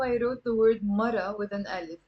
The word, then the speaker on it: مرة: So notice here how I wrote the word مرة with an alif. Like in standard Arabic we pronounce it مرأة, مرأة. But in the Lebanese dialect that's silent.